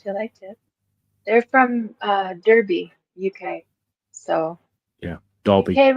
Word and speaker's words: Derby: They're from Derby, UK.